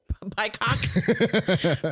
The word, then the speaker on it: BIPOC: It rhymes with POC. BIPOC.